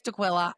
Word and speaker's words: Daquila: Grace Dquilla, I'm so glad you're here. I pronounced your last name right.